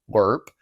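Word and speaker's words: LRRP: He was on a long-range recon patrol, LRP, L-R-R-P, pronounced LRP, like L-U-R-P, in Vietnam.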